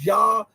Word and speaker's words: Zha: I hear everybody saying Zha, but I did research, and I think in Chinese it's pronounced with a J sound.